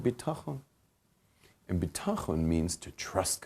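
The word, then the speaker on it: בטחון: Lacks bitachon. Bitachon, everyone practice that Hebrew word, bitachon.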